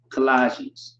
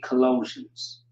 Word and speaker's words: Colossians: For example, Colossians. It's really Colossians.